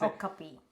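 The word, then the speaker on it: okapi: there are some zoos so it's pronouncing the Oka Oka thing is a copy okay a copy it's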